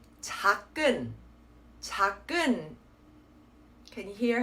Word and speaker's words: 작은: So what you need to do instead is only be pronouncing that supporting consonant in that second syllable. So again, it's 작은. It will help if you have an actual pause in between the two syllables to really stop yourself from saying or pronouncing that sound of the supporting consonant.